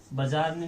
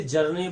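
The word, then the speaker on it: Bjarne: बजारने नहीं बोलते, कुछ लोग इसे जरने बोलते हैं, कुछ लोग बरने बोलते हैं, एक अक्षर को साइलेंट रख लेते हैं।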